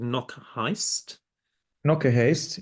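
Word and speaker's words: Knokke-Heist: realize that the gallery is in a place now you must pronounce this for me. It's in a place called Knokke Knock a haste.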